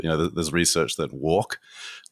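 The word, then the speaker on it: WARC: know there's research that walk pronounced like that is it's spelled w-a-r-c there's research that they've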